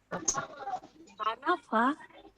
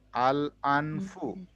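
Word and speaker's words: الأنفُ: হচ্ছে যে লাগবে না আনাফা আনুফা আনু নাকি আল আনফু ফা এর উপরে পেশ আছে আল আনফু আল আনফু আল আনফু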